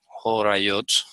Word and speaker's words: Horayot: Como cuando tienes una receta y vas a seguir unos pasos, entonces se pronuncia Horayot. Horayot.